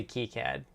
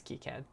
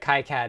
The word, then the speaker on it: KiCad: starting small is good i do say key cad and i think the creator of kicad says key cad but kai-cat is also a popular pronunciation um yeah i learned